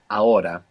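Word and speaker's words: ahora: habitual habitually a bit the word for now in Spanish is aora this is spelled a h o r a a-h-o-r-a good is the H silent in every uh yeah unless it's ch in which case it's like English Aura is actually the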